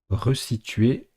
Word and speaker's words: resituer: alors comme prononcent eux normalement en français quentin s est compris entre deux voyelles on le prononce comme dans résigné résisté mais là c'est un verbe qui se construit avec redevance situe à 2 devant un verbe qui commence par le son est ce donc resituer s'écrit avec un seul